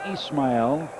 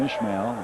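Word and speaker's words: Ismael: And I know his name's pronounced Ismail. Sometimes I call him Ishmael. I apologize for that.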